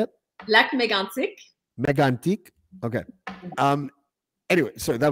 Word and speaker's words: Lac Mégantic: Lac Mégantic.